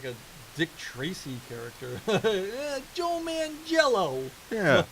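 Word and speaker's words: Manganiello: I can never pronounce his name right. Neither can I. I always want to say, Mangello. Yeah, Mangello. There we go. Yeah, Mangello. Joe Mangello.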